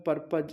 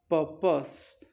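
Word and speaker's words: purpose: Model मे का जो चौथा प्रयोग है वो है पर्पज in present time. पर्पस in present time, इस वर्ड का राइट प्रोनाउंसिएशन है पर्पस, पर्पस in present time.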